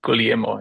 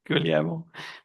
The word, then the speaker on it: Guglielmo: It's related Guglielmo, yeah. Guglielmo.